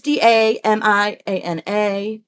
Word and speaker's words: Damiana: And I think the one I keep saying it wrong because I've only ever heard it, or I've only ever read it, never heard it spoken. I think it's Damiana or Damiana. It's Damiana. And then the additional things